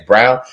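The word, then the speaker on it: Braun: it I was like his last name is brown all right okay that's how you pronounce it but um we got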